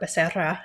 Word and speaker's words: Becerra: hmm So my grandmother's Mexican, grandfather is Spanish, Becerra or Becerra, if you say it correctly, right, Yeah, is a Spanish name, and so that's definitely part of my upbringing.